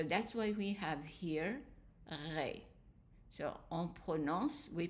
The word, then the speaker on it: ré: The E with an accent is A, so that is ré.